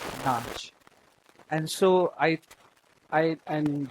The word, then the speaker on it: nach: uh when the British were in India they referred to the uh dancing girls the who were called notch uh nachwali as u notch girl because their stiff British upper lip couldn't pronounce nach and so I I